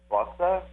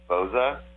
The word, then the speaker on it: Bozza: But really, in Italian, it's Bozza. So to me, it should be Bozza.